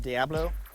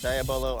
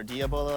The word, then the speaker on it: diabolo: call it the diabolo you might have heard it pronounced Diablo the proper pronunciation is daya bolo or diabolo as I like to say it via bolo used to